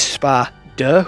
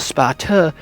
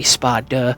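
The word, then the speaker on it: Sparda: I am specifically pronouncing the D when I say spa duh.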